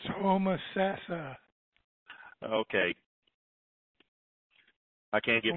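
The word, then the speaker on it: Homosassa: putcher that one 352 come on down it's hom sassa oh okay I can't get my time wrapped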